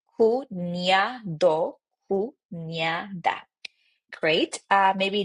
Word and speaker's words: cuñado: Maybe like brother-in-law or sister-in-law, cuñado, cuñada, because remember that this one, this letter, NE, it's basically replacing a ni. So that's why we say cuñado, cuñada.